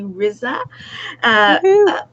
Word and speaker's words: Rizza: We have Rizza. It rhymes with pizza.